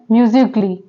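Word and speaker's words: musically: है next word है म्यूजिकली म्यूजिकली में भी ए जो है वो साइलेंट लेटर है इसको क्या प्रोनाउंस करते हैं म्यूजिकली ओके नेक्स्ट वर्ड है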